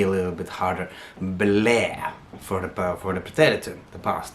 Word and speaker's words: ble: Here I hear a lot of people try to pronounce that E a little bit English style, and then they lose the past tense and it sounds like infinitive, causes confusion. So make sure you hit that in the Norwegian E a little bit harder.